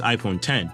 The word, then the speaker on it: iPhone X: Marking the 10th anniversary of the iPhone X, actually pronounced iPhone 10, was released a couple weeks after the iPhone 8, right on my birthday in 2017.